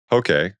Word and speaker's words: Poke: He's the genius behind several popular spots that we frequent way too often, including TJ Seafood, Malibu, Pokey. It rhymes with okay.